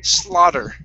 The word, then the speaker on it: slaughter: are going to pronounce it like a D. okay, or an R, okay? Okay, but when you say that, make sure that you're hitting the top of your mouth and not touching your teeth. Okay, it's slaughter. Try that.